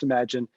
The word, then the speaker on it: ymagene: Our company is pronounced ymagene, and ymagene is actually an acronym for our mission of empowering a generation.